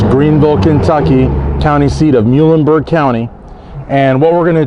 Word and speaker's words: Muhlenberg: it provided me with the correct pronunciation of Muenberg County because as she had told me and as I sort of surmised, folks that are not from around here would probably say Mullenberg.